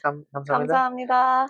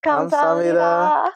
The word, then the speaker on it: 감사합니다: 감사합니다. Okay, ready? On 3. 1, 2, 3. 감사합니다.